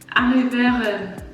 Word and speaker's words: arriveren: My pronunciation is like French. For example, this one, to arrive, arriveren, arriveren. I'd want to say it, but that's not how you say it. Thuis arriveren. Thuis arriveren, arriveren. Arriveren. So the V is like more of an F sound.